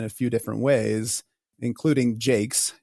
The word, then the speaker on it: Jaques: her contemporaries in a few different ways, including Jake's. J A ke, which is for me the easiest to pronounce.